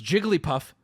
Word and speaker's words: Jigglypuff: both aren't correct because Jigglypuff is a combination of two words that when combined have three syllables you can't just add